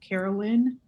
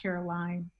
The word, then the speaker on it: Carolyn: you pronounce my name my name is pronounced carolyn l-y-n um not caroline just throwing that out